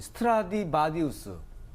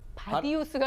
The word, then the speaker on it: 스트라디바리우스: 특히 이제 그 악기 중에서 이 스트라디바리우스, 바디우스가 아니라 바리우스. 바리우스.